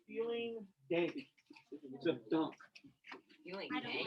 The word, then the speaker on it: Dank: Except dunk. Feeling I don't dank. like that. D-A-N-K, but say dunk.